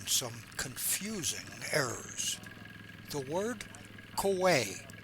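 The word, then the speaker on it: Khwae: The word koi k h w a e in the Thai language means tributary. In World War II, Englishspeaking prisoners mispronounced the word koi as quai.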